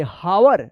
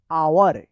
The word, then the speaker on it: hour: तो चलिए अब यहाँ पे हम लोग देखते हैं HOUR, इसको क्या पढ़ेंगे? हावर नहीं, इसको पढ़ा जाएगा आवर। क्या पढ़ा जाएगा? आवर पढ़ा जाएगा। यहां पे भी क्या है? एच साइलेंट है।